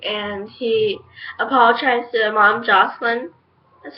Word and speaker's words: Jocelyn: He was apologizing to Clary, saying, "I'm so sorry," and he apologized to Mom Jocelyn. That's how you pronounce her name.